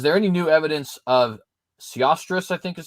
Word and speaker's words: Sesostris: Brother Timothy asks, is there any new evidence of Sesostris, I think is how you say this, the third? Sesostris, thank you.